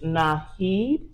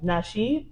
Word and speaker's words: Nasheed: Tariq Naheed. Oh, he sound black. Nasheed?